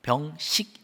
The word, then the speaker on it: 병식: 이루어지는 것이 뭐냐 하니까 병씩 입니다 발음을 잘 해야 됩니다 병식 입니다 병 시계 뜻이